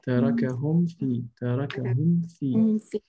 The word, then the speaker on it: تَرَكَهُمْ فِي: And the same thing for وَتَرَكَهُمْ فِي ظُلُمَاتٍ لَا يُبْصِرُونَ تَرَكَهُمْ فِي So make sure that you clearly pronounce the mim and you clearly pronounce the fa. And you distinguish between the mim and the fa.